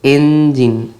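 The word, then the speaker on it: engine: The problem the bus faced was with the এঞ্জিন, এটাই ইঞ্জিন উচ্চারণ করবে না, এটার এঞ্জিন উচ্চারণ করলে ভালো, এঞ্জিন, ঠিক আছে?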